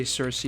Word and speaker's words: Kirke: You like my pronunciation of Kirke? Yeah, you do. That's the Greek way. Deal with it. You can say Cersei if you want.